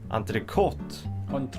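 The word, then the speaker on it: entrée: French maybe you're French this word is supposed to be pronounced anot because that's how it's pronounced in French or kind of anot is it pronounced like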